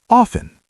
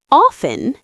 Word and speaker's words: often: Ah, many people do, but the T is actually silent. It should be often. The T is silent. Often.